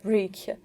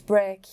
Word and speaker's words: break: it's circulate okay or you said brick it's break okay and it's better to